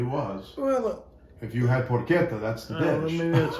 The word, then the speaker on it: porchetta: Did you know he's Properly pronounced porchetta. Poquito.